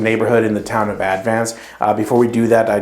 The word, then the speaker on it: Advance: So Advance, North Carolina, by the way, it's a weird pronunciation. When you're talking about the word advance, you say advance, but the town is called Advance. Spelled the same weird.